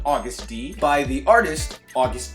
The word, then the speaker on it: Agust: now that is spelled au gu st okay this is spelled AG u st there is no u after the egg however I'm still going to pronounce it August like the month because I like the